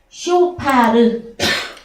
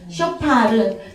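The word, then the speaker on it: שופר: 예, 쇼파르. 그래서 예, 쇼파하고 좀 비슷하다 그죠 발음이? 쇼파르.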